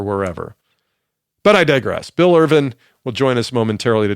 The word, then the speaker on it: Irvine: long time and so saying Irvin when it's spelled Irvine is a trick it's a trick and I'm trying to